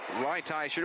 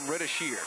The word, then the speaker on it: Reitz: Reitz, one of the great mispronunciations of 1992. Doug called him Ridashir.